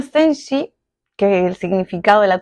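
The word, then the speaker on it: zhenji: Uno de estos es sensi, se escribe z h e n j. En chino se denomina senji, que el significado de la traducción vendría a ser huella verdadera.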